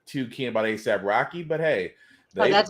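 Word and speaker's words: A$AP Rocky: I'm not too keen about ASAP Rocky, but hey, that's how you say his name is.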